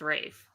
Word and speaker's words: Ralph: what no I mean it's spelled Ralph but it's pronounced Rafe I don't know is